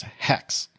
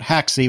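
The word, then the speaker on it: Haxe: Well, apparently the correct pronunciation for that, as per High Endian, is Hex. Not Haxi, which is, I believe, what all of us agreed it probably was. I went for Hakes or Hacks.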